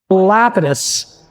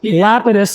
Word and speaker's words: Lapidus: My friend Arthur Dunkelman, who runs the Black Center of Miami, insists correct Central European pronunciation is that Lapidus. Lapidus is incorrect.